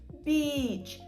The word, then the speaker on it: beach: Пляж матиме довге і the beach. Трошки ніби подовжуємо. Beч. Beч. Язик залишається спереду. Він нікуди не опускається. Не бийж, не беж. Біч. Біч. Він має торкатися нижніх зубів. І так, знаєте, ніби звук трошки хрустить.